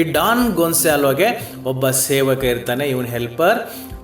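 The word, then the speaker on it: Gonzalo: ಇದನ್ನು ಓದಬೇಕಾದ್ರೆ ಡಾನ್ ಗೊಂಜಾಲೋ ಅಂತ ಓದಕ್ಕೆ ಹೋಗಬೇಡಿ, ಆ ಹೆಸರನ್ನು ಡಾನ್ ಗೊನ್ಸಾಲೋ ಅಂತ ನೀವು ಉಚ್ಚಾರ ಮಾಡಬೇಕು.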